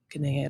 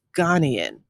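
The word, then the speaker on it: Ghanaian: I think they pref I think the preferred pronunciation is Ghanian. And I don't know why I always say Ganaian. I guess because I've always said Ganaian, but I believe it's supposed to be Ghanian.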